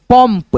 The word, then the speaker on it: पंप: की मात्रा प अब उच्चारण करके देखो म के रूप में आएगा पंप पंप बिंदी एक ही है